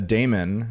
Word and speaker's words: daemon: stands for Bitcoin Damon a Daemon which is spelled d-a-e-m-o-n okay is really just a weird way of spelling demon and it's something that